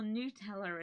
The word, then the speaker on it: Nutella: Nutella or Nutella as it's been told it's actually pronounced to me.